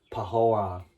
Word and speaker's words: Pahoran: Pahoran.